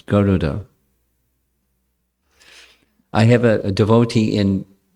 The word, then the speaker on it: Garuda: Commonly, we say Garuda, which isn't what his name is. There's no elongation of the second vowel. It's not Garuda, it's Garuda.